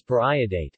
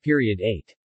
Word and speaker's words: periodate: salt of periodic acid note that the pronunciation is pariah date not period 8 unlike other common pariah